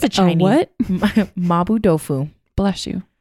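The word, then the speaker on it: mapo tofu: I'm going to spell it for you so you know what it is. It's MAPO. Well, there's actually kind of a few ways. It's Chinese. Mabu. Yeah. Occasionally there could be a B. It just depends on how you Romanize it because it's a Chinese word.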